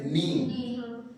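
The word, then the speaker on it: knee: लोग क्या कहते हैं इंग्लिश में नी लिखते हैं कनी सब अंग्रेज का बदमाशी था ठीक है के साइलेंट है के एन डबल ई नी तो नी घुटना देखते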